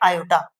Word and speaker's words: iota: Okay, अब यहाँ पर समझना है, रूट माइनस 1 जो होता है इसको हम बोलते हैं आयोटा। आयोटा की स्पेलिंग होती है IOTA।